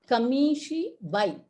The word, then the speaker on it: kamishibai: kamishibai keeps moving and it has to be pronounced as kamishi bhai yeah so these are